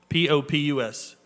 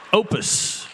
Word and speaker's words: Popus: P-O-P-U-S. The P is silent. Opus Management Group, Inc.